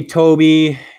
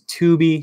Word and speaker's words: Tooby: description as well hey Toby you got my name wrong so I shouldn't answer your question last name is tuby two o's hey tuby do you